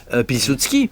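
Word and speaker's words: Piłsudski: j'ai pas cité pardon j'aurais dû le prononcer le le camarade parce qu'il faut bien l'appeler comme ça à l'époque pilsutski évidemment parce que tout le monde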